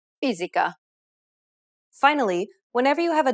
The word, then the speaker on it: fisica: S can also take on a Z sound when it appears between vowels. Casa. Cortese. Fisica.